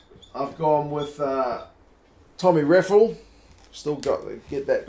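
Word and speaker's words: Reffell: gone with uh tommy raffel still got to get that guy's pronunciation right i'm used to calling him rafael from the premiership but apparently that's not right uh i think he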